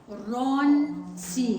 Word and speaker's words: сторонці: Сторонці. Сторонці. Say that word slowly one more Сторонці. time. It's Okay. 3 And syllables. that's where I'm just trying to celebrate. So, not like Storonці.